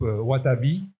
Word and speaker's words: Wataboui: Il participe activement au groupe Wataboui, pardon, il y a le W. Parce que comme dans Dorling Carter, on ne prononce pas le W, alors là, dans Wataboui, je ne vais pas prononcer.